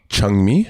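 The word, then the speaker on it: Jung-mi: know your korean name changmi yeah how do you spell it j-u-n-g hyphen m-i but it's pronounced cha yeah hmm okay and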